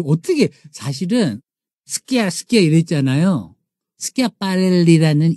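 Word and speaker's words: Schiaparelli: 사실은 스끼야 스끼야 이랬잖아요 스키아빠렐리라는 이탈리아 발음이 프랑스인들도 힘들었던 거예요 그래서 애칭이 줄여서 대답을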